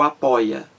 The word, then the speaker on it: apoia: ó a palavra apoia apoia apoia apoia são três sílabas apóia a sílaba mais forte aí gente é a penúltima boy após boy é a sílaba mais forte na penúltima da penúltima sílaba da palavra então a penúltima sílaba da palavra senta mais forte a palavra é paroxítona bom então não existe